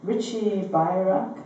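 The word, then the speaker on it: Richie Beirach: So we're going to start with Loft Dance, which is a really cool tune by Richie Bayrack.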